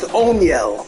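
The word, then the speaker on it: Oneil: fifth instead of O'Neal his first name is pronounced onel onel Cruz one of the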